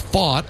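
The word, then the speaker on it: Pfaadt: They list fought at 6'4 220. He's 26 years old. Last name spelled P F A A DT and pronounced fought.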